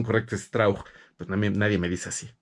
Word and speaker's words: Strauch: Su papá era alemán, entonces la pronunciación correcta, yo siempre tuve esa duda, porque la pronunciación correcta es Strauch, pero pues en Latinoamérica